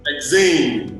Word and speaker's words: Lexain: Did I get the pronunciation well? Lexain. Lexain, okay.